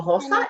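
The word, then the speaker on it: Hinojosa: viewers i don't know hey no hosa it's h-i-n-o j-o-s-a right hannah yeah yeah there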